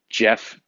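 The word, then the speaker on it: Geoff: how my name is spelled so it's uh jeff is spelled g-e-o-f-f and is spelled so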